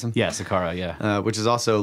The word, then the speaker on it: Saqqara: pyramids or whatever yes is that how you pronounce it yeah Saqqara yeah which is also like not very well